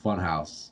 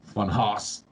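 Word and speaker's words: Funhaus: And then channels, I really fucking like channel Funhouse. It's just hilarious, like, and it's spelled Funhouse, like Haus, but they are hilarious.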